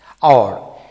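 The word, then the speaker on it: hour: তবে 4-5টি শব্দ আছে ডিকশনারিতে, এই 4টি শব্দ অ্যাডেড পড়বে অ্যান বসে, কারণ হলো এইচ এর উচ্চারণ হয় না সেক্ষেত্রে। যেন honest, he ইজ an honest man, আওয়ার, we need an আওয়ার টু go there, honourable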